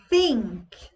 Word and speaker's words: think: Think. Vejam minha língua. Think. Think. Você vai colocar a língua entre os seus dentes e vai falar Thursday.